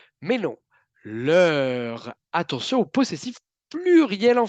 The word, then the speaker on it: leur: Donc, l'oreille hispanophone va peut-être croire que le mot qui est dit, c'est simplement le. Mais non, leur.